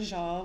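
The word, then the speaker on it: sjal: little scarf um so and I have the jeal which is just a bigger version of the same thing and that's spelled s-j-a-l yes we also have it here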